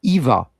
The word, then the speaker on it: Eva: Ah, in that era, you're likely thinking of Eva Braun. Though her name is spelled Eva, it's still pronounced similarly to Ava in German.